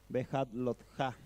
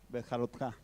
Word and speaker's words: Behaalotjá: esta semana, que es la parashá número 36, Behat Lotja. De una vez, como decíamos, también un nombre complicado para pronunciar, Behat Lotja.